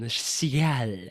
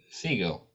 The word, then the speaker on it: Segel: pronounce that surname, Dan? Sial. What is it? Who are you saying? Seagull.